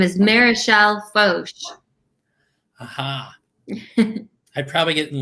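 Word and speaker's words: Foch: This is how did you pronounce this? I don't want to get in trouble. Fauche. Fauche, thank you.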